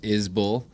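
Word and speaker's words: Isbell: while ago it's like it's pronounced is bull and he had like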